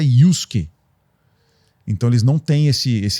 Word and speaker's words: Yusuke: Mas esse Su, ele significa o S isolado. Então a pronúncia certa é Yusuke.